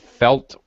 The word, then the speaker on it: felt: I think you said felt like yeah okay well you you lost the te so it sounded like fell like be careful you're you're